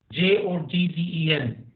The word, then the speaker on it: joggen: J-O-G-G-E-N, Joggen. J is pronounced like Y, okay?